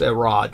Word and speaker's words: Herod: It's actually pronounced Erod from the old days. I've never heard anyone pronounce him Herod, but I believe you. They all say Herod.